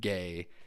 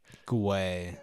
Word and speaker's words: Guay: It's technically Guay, so it's like. Sure. It's my grandpa supposedly we pronounce it Gay in his honor, but we did a fucking he hired somebody to like do a deep dive into our like family history. Mm-hmm. It's supposed to be pronounced fucking Guay.